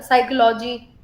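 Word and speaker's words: psychology: साइकोलॉजी, पी आपका silent है साइकोलॉजी में भी।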